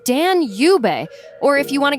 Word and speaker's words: Danube: And yes, it's pronounced Dan Yub. Or if you want to get fancy, the British say Danube.